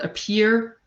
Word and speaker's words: appear: syllable so for example the word appear peer is the stressed syllable so with the context